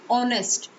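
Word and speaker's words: honest: बट इसमें जो sound है एच जो है यहाँ पर साइलेंट होता है, एच की साउंड नहीं आती। साउंड किसकी आती? ऑनेस्ट, ठीक है?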